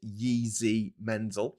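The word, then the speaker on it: Jiří Menzel: I think it's pronounced Yeezy Mensel.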